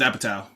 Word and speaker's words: Apatow: I don't want to get his name wrong. I know his last name is Apatow, right? Yeah, you had it, Judd Director. Apatow.